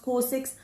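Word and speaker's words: COSRX: I think it's pronounced corix.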